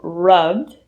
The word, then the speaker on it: rubbed: The syllable in rubbed is stressed.